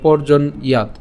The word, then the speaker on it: পর্জন্যাৎ: এই যে পর্জন এখানে কেন, যে রেফটা আছে, এই রেফের কারণে র উচ্চারণ হচ্ছে, তাহলে পর্জন।